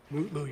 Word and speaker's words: Mutlu: Is it Metlu or Mutlu, or how do you pronounce his last name? Mutlu, Your Honor.